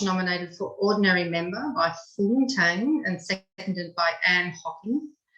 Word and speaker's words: Fung Tang: Did I pronounce that properly? Yeah. Yeah. Fung Tang nominated for Vice President by Anne Hocking, seconded by Paul Spence.